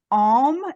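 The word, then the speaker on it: aum: I understand and the the syllable is Alm a-u-m okay similar to om but om a little different and the sulfacio is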